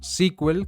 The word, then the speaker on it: SQL: de consulta estructurado y se pronuncia como squel como vemos aquí abajo